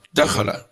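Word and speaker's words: دخل: Kalimah itu kalau 3 huruf, itu membacanya huruf pertama langsung ditekan, biar enggak keliru. Qira'ah ini 3 huruf, kharaja 3 huruf, bacanya langsung qira'ah, kharaja, dakhala.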